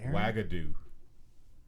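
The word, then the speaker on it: Uagadou: to her very good of her yeah Jesus wagadu that's how you pronounce it where are they good at the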